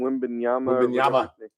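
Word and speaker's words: Wembanyama: Wembenyama.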